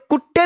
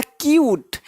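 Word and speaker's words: cute: यहाँ पे कुत्ते नहीं है, कुत्ते मत बोल देना, यह क्यूट, यह क्या क्यूट।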